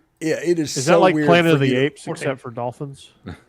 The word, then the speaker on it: Dauphin: is except for dolphins well it's not even spelled with an L it's like I keep calling it Dolphin Island but I think it's dolphin yeah it's the prince the prince of France the dolphin d-a-u yeah I thought I